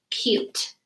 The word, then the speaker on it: cute: practicing these skills so here's our word cute c u t e and what i like to do when i have a silent e word or a sneaky word is put a line through the sneaky so i remember the e stays silent and the u says it's long sound and if you're writing